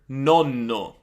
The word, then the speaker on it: nonno: For example, let's take the word nonno. Nonno versus nono, nono.